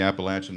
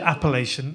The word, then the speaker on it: Appalachian: I always think of latch. Appalachian.